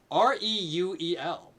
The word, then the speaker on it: Reuel: uh ryul riol real r-e-u-e-l is not an easy name to pronounce i think it's actually pronounced uh reuel if you know the